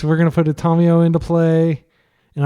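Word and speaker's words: Tamiyo: going to put a tomio into play and I am making an effort to pronounce her the Japanese way even though I'm used to calling her tamio like a Texan all right uh so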